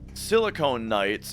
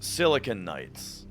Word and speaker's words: Silicon Knights: But uh but yeah, apparently silicon and silicone are two different things and it's not silicone knights, it's silicon knights.